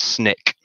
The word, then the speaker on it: SNCC: student non-violence coordinating committee sncc pronounced snick alabaca began her involvement